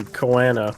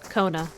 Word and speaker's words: Koana: makes sense would be Koana or Koana. Kona. Kona? They just say Kona. So Kona? Unless I'm missing the pronunciation of the first A, it sounds like they're just saying Kona.